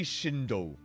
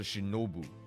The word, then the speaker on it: Shinobu: I think I've legit just been repeating Kuki Shindo this whole time as opposed to Shinobu.